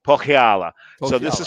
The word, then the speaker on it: Pohjala: So you're gonna have to pronounce this for me again. Pohjala. Pohjala. So this is Pohjala, yeah.